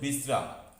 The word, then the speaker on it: বিশ্রাম: শেষে ম কিন্তু পূর্ণ উচ্চারিত হচ্ছে না, যদি পূর্ণ উচ্চারিত হতো তাহলে সেটি হতো বিশ্রাম, কিন্তু এইভাবে উচ্চারণ এটা হয় না, তাই ম এখানে অর্ধ উচ্চারিত হচ্ছে এবং যার জন্য শব্দটির উচ্চারণ হচ্ছে বিশ্রাম।